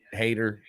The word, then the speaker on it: Haight: call me a hate hater I I laugh my last name is people pronounce it height it's not height it's hate uh I'm a lover